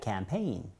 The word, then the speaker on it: campaign: 그런데 강세가 뒤에 있으니까 campaign.